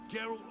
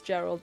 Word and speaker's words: Geralt: oh I forgot that I did mispronounce his name as Gerald last stream yes this is Gerald I I am not geralt I'm Gerald when did